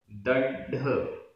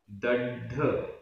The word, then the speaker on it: दड्ढ: दड्ढ, दड्ढ, आधा ड ढ, दड्ढ।